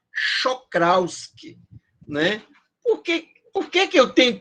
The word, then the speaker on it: Czochralski: Tem até um cara que o pessoal chama de Kizorowski, que, na verdade, a pronúncia é Czochralski, né?